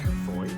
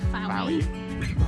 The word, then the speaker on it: Fowey: Pronounced Fowey, Not Fowey.